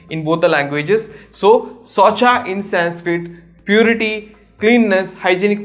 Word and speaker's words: Saucha: So Socha in Sanskrit, purity, cleanness, hygienic principles, all those things in Sanskrit is spelled as Saucha, that is S-A-U-C-H-A, not S-W-A-T-C-H.